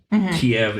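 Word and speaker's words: Kyiv: in to um Kev keev ke ke is how how you're supposed to pronounce it Kiev is the Russian pronunciation the Czech the Ukrainian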